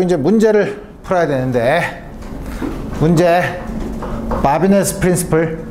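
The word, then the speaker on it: Babinet: 문제를 풀어야 되는데 문제 바비네 프린시플 바비네 프랑스 사람이기 때문에 마지막 티를 발음을 안 하죠 바비네의 프린시플 뭐냐면 다음과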